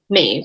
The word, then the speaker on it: Maeve: that 2 of the characters, and I'll probably mispronounce her name. Is it Maeve? Maeve, yeah.